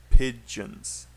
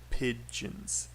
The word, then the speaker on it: pigeon: squirrels it's squirrels and pigeons pigeons pigeons two syllables squirrels and pigeons okay